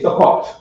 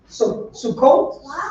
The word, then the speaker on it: Sukkot: They say Sukkot. Sukkot? They say Sukkot. Sukkot. Yeah, Sukkot. Sukkot. Yeah. And they spell it that way.